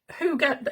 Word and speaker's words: hygge: And yes, hygge is surprisingly how you say it.